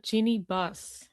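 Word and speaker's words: Jeanie Buss: We have Genie Bus.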